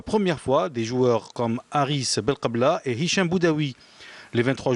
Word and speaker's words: Haris Belkebla: J'avais mal prononcé tout à l'heure le nom du joueur du stade brestois, c'est Haris Belkebla.